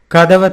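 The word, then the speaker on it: கதவை: And now getting to the point, I can use kadavai as in formal usage, but I'll pronounce it as kadava.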